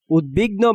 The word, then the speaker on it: উদ্বিগ্ন: উদ্বিগ্ন বানানে দয়ের সাথে বফলা থাকায় বফলার উচ্চারণ বহাল আছে।